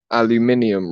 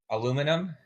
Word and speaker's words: aluminium: Would you say that Americans say the word aluminium wrong? Or Aluminum?